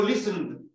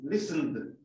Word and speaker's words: listened: El final de esto, si yo digo listened. El ed completo solo se pronuncia de. List, porque el verbo se dice así, listen. Y ese de así, listened.